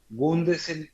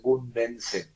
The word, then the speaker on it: Gundesen: Y siempre me lo pronuncian Gundensen, se agrega una N.